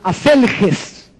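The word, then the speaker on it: ἀσέλγεια: La lascivia, según el griego, es una palabra que se pronuncia aselges y quiere decir una sexualidad desenfrenada y una disposición para todo tipo de placer.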